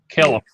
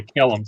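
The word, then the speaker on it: Kalum: it is right side up so your name is spelled c-a-l-e-b c-k-a-l-u-n k-a-l-u-m caleb okay someone i thought someone said caleb so okay calum c-k-a-l-u-m so nuisance name ah i said it's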